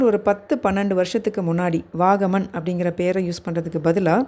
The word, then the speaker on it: Vagamon: கேரளா டூரிசம்ல இப்ப யூஸ் பண்ற டேர்ம் வந்து பாத்தீங்கன்னா வாகமன். அதையும் சில பேர் தவறா உச்சரிக்கிறாங்க. வகாமன், வாகமான் அப்படில்லாம் இல்ல. வாகமன் அவ்வளவுதான்.